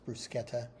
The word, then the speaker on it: bruschetta: Brusquetta or bruschetta. if you prefer. That's probably the way I'd say it. Not wanting to appear pretentious, but it is in Italian. It is pronounced brusqueta.